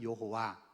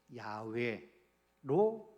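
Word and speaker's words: 야웨: 여호와 이렇게 이름이 붙여진 거예요 그래서 우리는 예전부터 여호와 이렇게 우리가 불러왔고 이제 신학에 발달하고 문 이렇게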